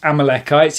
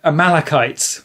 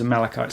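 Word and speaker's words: Amalekites: discover as part of this conversation it's not pronounced Amalcchites, it's Amal Amalachites. So um yeah, wonderful to actually go and talk to someone about it. And the vicar agreed it was Amalachites as well.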